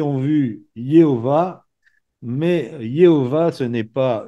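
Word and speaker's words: Jéhovah: Et le Y avec le A, ça donne Yé. Et puis l'H, O, Yéo. Et le W qui se prononce V, V-A, Yéhova.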